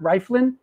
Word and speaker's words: Rieflin: My introduction to Martin was him machine gun drumming next to Bill Rieflin. How do you pronounce Rieflin?